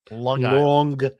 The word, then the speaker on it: Long Island: Long Island. Long Island. Long Island. It's a hard G, man.